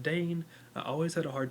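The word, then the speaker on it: Daein: that it's crap it's crimea and dane that's pronounced dane i always had a hard time with it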